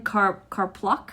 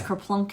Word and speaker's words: Karpluk: Aaron Karpluk. I believe so. I thought it was Kerplunk at first, and I thought, I probably would think about renaming myself.